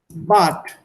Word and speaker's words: Bad: So, if you have Bad, But genau. So that becomes Bat. And if you have here Tag. Tag, this becomes Tak.